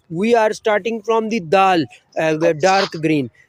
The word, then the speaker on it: د: We are starting from the dal, the dark green. It's dal. Okay. D-A-A-L. Dal. Which pronouncing place of dal? Tip of your tongue, touch upper middle to taste tips.